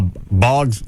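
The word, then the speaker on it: Boggs: Is his last name Hog? No, but it rhymes with that. And you have to add an S. Uh, Bogs.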